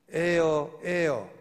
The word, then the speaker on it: heir: A-I-R, 공기하고 발음은 똑같고 스펠링이 다른 거. 그죠? 학교 다닐 때, 중학교 다닐 때 영어 시험에 자주 나오던 문제, 에어, 발음은 똑같고 의미는 다른 거, HEIR, 그게 후사예요.